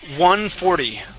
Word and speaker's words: 140: Let's practice the number 140. 140. Okay. Now, at the end of that word, that T is going to sound like a D.